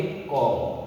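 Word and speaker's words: comb: इसको पढ़ेंगे date, B silent है। ये इसको पढ़ेंगे क्लाई, इसको पढ़ेंगे थॉट। क्या पढ़ेंगे? थॉट। इसको पढ़ेंगे कॉम। क्या पढ़ेंगे? कॉम।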